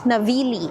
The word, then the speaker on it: Navigli: So, ang unang pupuntahan natin today is Navili. Ang spelling niya ay Navigle pero silent G daw siya. So, Navili. Sabi nga nila it's the heart of Milan daw.